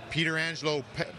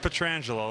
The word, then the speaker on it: Pietrangelo: since you're a child like I were hearing Peter Angelo I can't even go over all of them yeah I mean can you take us to class here on it it's petrangelo that's typically how you say it but I actually